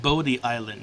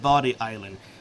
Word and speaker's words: Bodie Island: and by the way is pronounced Bodie Island not body island trust me I used to live in North Carolina and not a single person I knew pronounced it body they all pronounced it Bodie Island I don't know